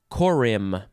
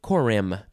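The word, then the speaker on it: corymb: in this episode is korim i'm gonna say korim c-o-r-y-m-b you don't really say the b just korim noun from 1794 a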